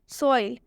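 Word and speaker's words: soil: हम एग्जांपल देखते हैं सोइल सोइल में आप देख सकते हैं ओ है रूल के हिसाब से ओ के बाद से आई भी आया हुआ है तो इसे हम ओई पढ़ेंगे मतलब कि यहां पर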